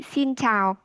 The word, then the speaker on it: xin chào: You can say xin chào. Xin chào. Yeah, good pronounce.